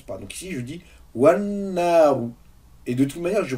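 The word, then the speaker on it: والنار: Donc là, on voit que j'ai prononcé ni Hamzatul Wasl, ni la lettre Lam.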